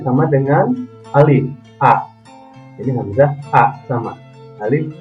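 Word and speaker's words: عين: Lanjut, ain, ain, a. Nah, ini berbeda dengan alif, ini a, alif, alif, a. Kalau ini ain, a, a, a.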